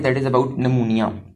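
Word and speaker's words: pneumonia: Next जो हमारा topic है, दैट इज़ अबाउट नमूनिया, पेनमूनिया, इसमें पी साइलेंट है।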